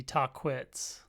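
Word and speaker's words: Tahquitz: Okay, I'm starting to get a little higher up enough to see Takit's Peak here. Based on a little research after the hike, the pronunciation should be Tquitz.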